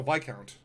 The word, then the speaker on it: Viscount: Oh, Viscount. They don't pronounce the S.